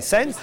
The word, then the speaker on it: Sens: C'est d'origine espagnole, donc je dois prononcer Sens.